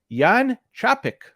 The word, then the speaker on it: Jan Čapek: I want to bring in the guest it's Yan traffic from hopefully I pronounced it correctly from brains Ahoy Yan how